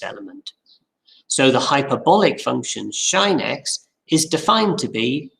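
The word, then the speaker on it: sinh x: three functions and the most common way of pronouncing them is shinex coshx and than x both the hyperbolic functions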